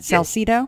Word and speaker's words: Salsido: is, and it's Salsido. Am I saying that right? By the way, I don't know if I've ever asked you that. Salsido, yeah. That's exactly right. You have it just right, yeah.